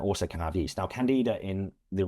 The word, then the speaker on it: candida: So yeast overgrowth you've spoken about candida did I pronounce that right?